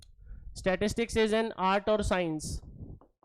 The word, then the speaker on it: statistique: Italian word, German word STATISTIK, स्टैटिस्टिक।